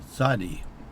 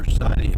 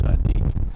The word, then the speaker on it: Tsadde: So they've attached the Ku sound onto Tzaddik, and Tzaddik does mean righteous.